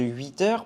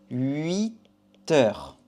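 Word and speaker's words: huit heures: Ici, la prononciation de 8 heures peut poser quelques soucis. Donc ici, on va dire comme ça. 8 heures.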